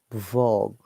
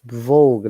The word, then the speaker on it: vogue: here guys not valid is it vlog that is vogue not vlog my policy i pronounce